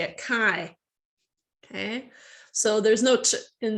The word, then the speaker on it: chi: can read it as uh how do you phonetically say it chi okay so there's no in there it's just